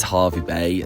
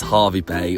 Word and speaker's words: Hervey Bay: So, it is Harvey Bay. Sorry for all this confusion at the last minute, but it's Harvey Bay. Why? It's spelled like that.